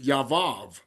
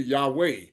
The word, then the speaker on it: Yahweh: Because the Yod He Vav He is supposed to be, you pronounce it Yavav, but yet it's supposed to be Yahweh or Yahweh.